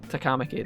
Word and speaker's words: Takamaki: see an so easy it's literally like one syllable and T takamaki San takamaki takamaki that's it I get that wrong every time